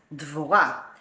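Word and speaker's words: דבורה: Deborah, in Hebrew, we pronounce it as Dvorah.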